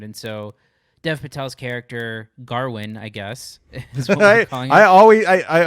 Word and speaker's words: Gawain: is the gawain but they say garwin did you did you ever read the poem or i didn't no okay it blew my mind and i've seen people on twitter like wait it's been pronounced garwin this whole time anyway um this is